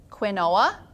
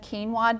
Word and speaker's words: quinoa: have learned is that many of you refer to this as Quinn OA and that's not how you say it but I totally